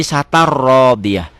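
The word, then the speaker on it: عيشة راضية: Pemula akan baca begitu, orang bingung, orang dibacanya benar, nggak ada salahnya isatan. Tapi ada ketentuan lain, ada hukum lain. Ini hukumnya idgham bila gunnah. Kenapa? Karena tanwin ketemu ro. Isatan, ya, jadi isatar rodiyah.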